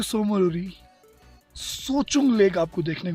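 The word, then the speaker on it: Tso Chung: ऑन द वे टू सोमोरी सोचुंग lake आपको देखने को मिलेगी। सोचुंग, आई was pronouncing it wrong, इट्स TSO, सोचुंग, CHUNG।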